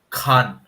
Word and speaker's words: Khan: let me take this opportunity and teach you how to pronounce names. Khan. Imran Khan. Khan. KH. Khan. Kha Kha. Khan.